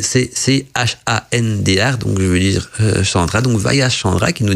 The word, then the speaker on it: Chandra: Voilà, ça s'écrit C-H-A-N-D-R, donc je veux dire Chandra.